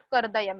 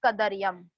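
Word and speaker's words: कदर्यम्: Last time मैंने बोला था, बहुत लोग करदयम बोल रहे हैं. इट इज नॉट करदयम, इट इज कदरियम.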